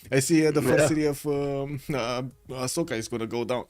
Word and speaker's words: Ashoka: Also, how do you pronounce is it Ahsoka or Ashoka? Cuz I'm pretty sure you can I know I pronounce it Ashoka but I've never looked it up. Ashoka. Okay. Okay. So, you do get that sh in.